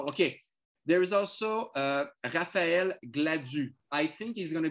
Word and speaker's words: Gladue: There is also Raphael Gladue. I think he's going to be the right fielder. So G-L-A-D-U. So it's Gladue.